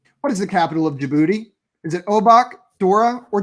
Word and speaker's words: Djibouti: Djibouti's the capital of Djibouti. That is the correct. I enjoyed hearing you guys. What is this? You both try and pronounce it. Can we give me context there? Djibouti is a country in Africa on the eastern coast, bordering Somalia. Where? And the capital of Djibouti is also Djibouti. Cool.